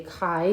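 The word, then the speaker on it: chi: our last type of test which is a Kai squared I know it's spelled D hii It's pronounced Kai Square test um and there are three types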